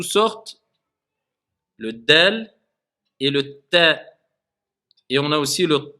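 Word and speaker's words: طاء: Pareil, le Ta. C'est pas comme le Ta. Le Ta, il est emphasé.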